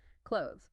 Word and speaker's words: clothes: you might hear a very subtle 'the' sound where your tongue just barely touches or comes between your teeth. Clothes. The key is that the 'the' is part of the spelling and the ideal pronunciation, even if it's minimal.